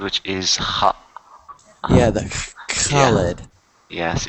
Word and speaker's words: Khaled: Yeah, the Khaled. Yes, it's K and H in Arabic, always pronounced like that.